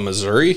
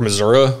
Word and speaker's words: Missouri: Louis, and I think I caught like the majority of the lower half of Missouri, mm-hmm. or Missouri, I guess. I was saying it wrong forever.